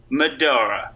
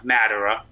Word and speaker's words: Madara: be Vegeta Seto Kaiba Medora or I always pronounce his name wrong Madara okay tobirama those are